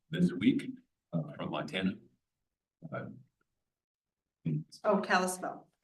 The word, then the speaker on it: Kalispell: Oh, Kalispell. Kalispell.